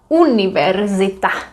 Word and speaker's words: univerzita: Karlova univerzita. Univerzita. Well, let's start by this word. Univerzita. U, I, E, I, A. U, I, E, I, A. Univerzita.